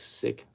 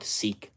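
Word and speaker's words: Sikh: might need two child policy uh spelled sick pronounced sick okay yeah I think it's pronounced as sick it's not seik so diversity hiring yeah the diversity hiring program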